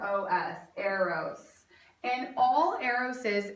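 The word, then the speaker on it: Eros: the least important type of love and that is spelled e r oos Aros and all Aros is it's very very simple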